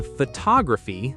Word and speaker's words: photography: Photograph, the noun, stress on the first syllable, then photography, the art or hobby, stress moves to the second syllable, then photographic, the adjective, stress moves again to the third syllable.